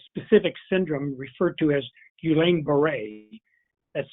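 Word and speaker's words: Guillain-Barré: history of a specific syndrome referred to as guillain-barre that's spelled g-u-i-l-l-a-i-n-d-a-r-r-e the eeoc has also advised employers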